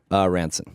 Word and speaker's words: Ransone: By the way, if I've been saying your name wrong, I've been saying Ransone. It's Ranson. I don't know.